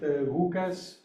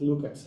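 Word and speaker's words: Łukasz: for us uh our visitor whose name is pronounced as he said it hukas visovsky and all those years I was pronouncing his first name wrong was just Lucas that's close enough close enough uhas his uh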